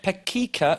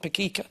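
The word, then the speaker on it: Pecica: Speaking of grim towns, in Romania, what did the mayor of Pekica recently advise motorists to look out for? I think that's how you pronounce it, Pekica. P-E-C-I-C-A.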